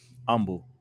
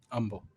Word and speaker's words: Humble: every time i say humble they make sure i say nah it the h is silent punk like fixing that you live there yeah i live in humble uh you live in humble humble humble there you go